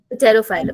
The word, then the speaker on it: Pterophyllum: टेरोफाइलम ना, तो P silent बोल लेते हैं, टेरोफाइलम।